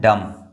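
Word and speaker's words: dumb: देखिए यहां पर ये आपको लग रहा होगा डम लिखा हुआ है। नहीं ये डम नहीं है। ये है डम।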